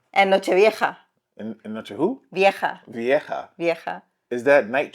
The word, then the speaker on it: vieja: No viaje. Vieja. Do you hear yourself? Yes. Viaje is travel. What do you say? Vieja. Vieja. You know Vieja. Viejo Old. It's confusing because I'm always thinking like oh they're traveling somewhere. It's a traveling night. Viaje. It's like whenever I said ajo and then he goes oh your eye? Your ojo? No. Ajo. No.